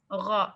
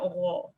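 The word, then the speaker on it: ر: Ra. So when you pronounce Ra, it's not Ra. It's not rounded.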